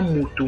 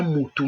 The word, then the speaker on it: mutu: So this word, the same spelling, different pronunciation and different meanings.